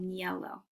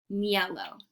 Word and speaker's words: niello: It's called niello. Don't worry, I'm going to get to it. Don't worry. It's spelled Niello, niello.